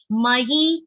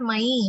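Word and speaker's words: मयि: Mayi and not mai, mayi, ya. Ya has a short e sound.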